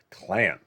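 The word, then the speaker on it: Klain: a week ago we were talking about ron clan the president's chief of staff it's spelled k-l-a-i-n and what was he doing issuing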